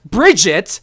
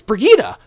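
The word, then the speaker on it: Brigitte: wrong okay it's not Bridget it's not Bridget E it's Brigitta they even showed you how to pronounce it at the overwatch like I don't understand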